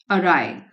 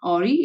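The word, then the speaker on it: awry: Plan to claim, plan था कि दावा करेंगे इंश्योरेंस कंपनी से पे आउट का, भुगतान का, दैट गोज अराय, इसका प्रोनाउंसिएशन है अराय, नॉट ऑरी, इज अराय।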